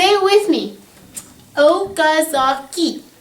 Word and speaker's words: Okazaki: say it with me okazaki is how you say that name and it's named after